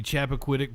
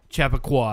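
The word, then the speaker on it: Chappaqua: is what the live shot outside of the Chapquitic Performing Arts Center. Chap Chap Chapaqua. Chapaqua. I kept pronouncing it wrong yesterday.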